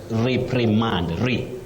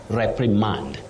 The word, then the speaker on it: reprimand: Betty, locally many people find themselves saying reprimand, but you say reprimand. To reprimand somebody, that is reprimand with a stress at the onset, not on the last syllable.